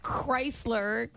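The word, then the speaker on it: Krisler: Somebody named Chrysler, I think that's how you say it.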